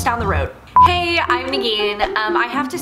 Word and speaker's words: Negeen: area five minutes down the road hey i'm negan um i have to say my name in